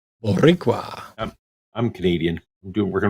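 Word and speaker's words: Boricua: lost chat # Moonpaw Nation and Paul it's pronounced Boricqua and roll roll the out of that R bor Borqua. All right, Boriqua.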